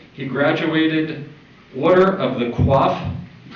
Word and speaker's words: Coif: He graduated Order of the Coif. I assume that's how they pronounce it. It's C-O-I-F, not Q-U-A-F-F.